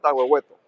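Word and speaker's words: Tahuehueto: You got Campo Morado and how do you pronounce the next one? Campo Murado and Taweto. Tooto. So, Taweto is the new the brand new gold mine.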